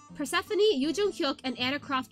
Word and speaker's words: Persephone: I accidentally pronounce Persephone's persona phone sometimes because I look at it and I see phone. It's Persephone.